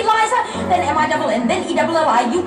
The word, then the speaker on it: Liza: It's Liza with Z, not Lisa with an S, cause Lisa with an S goes snuff. It's Z instead of S, Lie instead of Lee. It's simple as B, C, Liza, then M-I-double-N, then E-double-L-I.